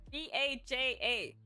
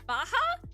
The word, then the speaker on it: Baja: LED you know it's Baja is it Baja is it Baja Blast why how does that well I guess sometimes you can't pronounce things the J as an H that's wild I don't